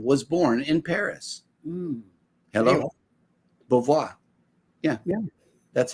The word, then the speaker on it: Beauvoir: Beauvoir.